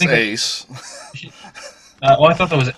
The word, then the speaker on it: Ace: It's pronounced Ace. I thought that was Axe.